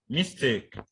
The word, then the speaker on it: mistake: Now, there are some words that the stress will be on the second syllable.